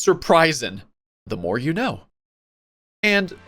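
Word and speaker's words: Sir Prysin: Surp Oh my god, his name is pronounced surprising.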